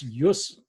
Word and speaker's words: jus: And this is jus. In Latin, the J is very often pronounced as an I, essentially. So it produces a y sound.